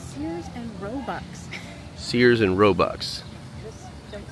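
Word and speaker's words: Sears, Roebuck: bought out of a Sears and roox catalog you said it wrong again I said it wrong again what how do you say it it's Sears and Robux Sears and robu don't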